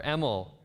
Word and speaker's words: Emil: was but it's um my middle name is emil yeah e or emel is the proper pronunciation but you guys are